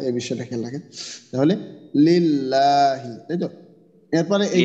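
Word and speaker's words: لله: ইয়ে না হয় এই বিষয়টা খেয়াল রাখেন তাহলে লিল্লাহি তাইতো এরপরে এই যে আমরা যেখানে দেখতেছি যে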